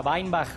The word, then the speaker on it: Weinbach: En realidad es alemán, se pronuncia Weinbach, pero le damos con Weinbach acá.